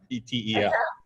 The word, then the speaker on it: Etel: I think you said it wrong. I think I did too. And I was like beating myself up in my head about it. Etel, so you could call her Etel, E-T-E-L.